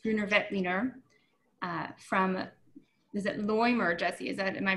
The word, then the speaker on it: Loimer: with this lowest Grüner Veltliner from, is it Loimer, Jesse? Am I pronouncing that right? Yeah, his name is Fred Loimer.